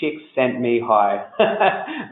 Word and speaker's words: Csikszentmihalyi: sort of something I won't forget so the pronunciation Csikszentmihalyi merely chicks hi so he talked about clothes